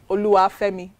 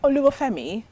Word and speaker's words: Oluwafemi: not trying to pronounce ulua femi the proper way you need to be able to learn how to do it it's not oliver femi a only family or you know so